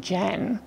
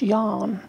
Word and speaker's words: Jan: have a strange name Jan that's a girl's name no it's actually pronounced yarn it's Norwegian said Mr Ferguson but